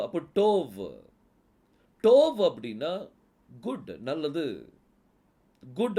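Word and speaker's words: טוב: டோ அப்படின்னு சொல்லி வரும் கடைசி எழுத்து வ அப்போ டோவ் டோவ் அப்படின்னா குட் நல்லது குட் அப்படின்னு சொல்லி அர்த்தம்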